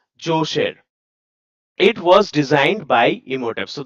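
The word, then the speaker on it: Djoser: This is pronounced as josher.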